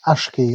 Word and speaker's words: Aqshy: Aqshy.